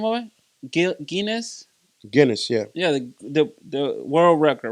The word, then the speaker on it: Guinness: Am I pronouncing that right? Yeah, Guinness.